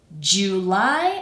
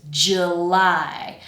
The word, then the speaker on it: July: So I'm just because that first syllable is the weak one, I'm just taking that oo and kind of reducing it to schwa.